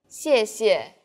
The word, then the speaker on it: 谢谢: The tone in the first syllable is the fourth falling tone. 谢. And the second syllable is the neutral tone.